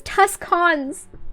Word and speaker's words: Tucson: Why the fuck is there a C in it then? That literally says Tuscans.